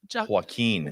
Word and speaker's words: Joaquin: Her Joaquin. Joaquin. I always say his name wrong. Joaquin. Joaquin. Wow. Good Lord. Joaquin. Like he's Okay. walking. Like walking.